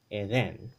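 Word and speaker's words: Edén: Eden. Eden. There's that accent on the E.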